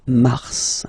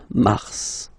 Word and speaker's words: Mars: fe okay then okay so in a way it's an exception because normally final s is not pronounced in French okay we've got some exceptions and this one is one of M. So Mars, pronounce the final S.